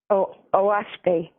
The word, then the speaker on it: Oahspe: In my late 30s, I got the OASPE Bible, which has been my inspiration all along. What Bible is that? What kind? OASPE. It's spelled OAHSPE, and it's a new Bible.